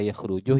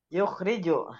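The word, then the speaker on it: يخرج: Kalau dibaca yakhrujuh ya keliru, yukhrajuh ya tambah keliru. Berarti bacanya apa? Mengeluarkan artinya. yukhriju Oke, yukhriju.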